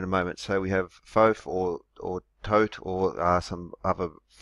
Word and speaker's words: Thoth: So we have Thoth or Thoth or some other Thoth sometimes pronounced as well, but I'll be calling him Thoth.